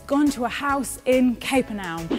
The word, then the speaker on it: Capernaum: to a house in capernaum it's actually pronounced capernaum and he is teaching